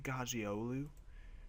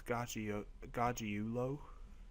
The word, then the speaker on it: Gargiulo: I always want to say Gargiolu, but it's not. It's Gargiulo.